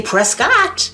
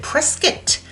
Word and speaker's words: Prescott: If you say Prescott, like I like to say, cuz that's phonetically correct, uh they could have a cow because they like you to pronounce it prescuit.